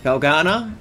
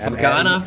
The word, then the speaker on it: Felgana: Oh no, I lost how to pronounce it. Felgana. Thank you. Yeah. Yeah, right, Felgana.